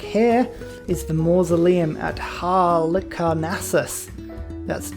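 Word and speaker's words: Halicarnassus: gustav eiffel trick here is the mausoleum at hal carnassus that's how you pronounce that one utterly boost that which means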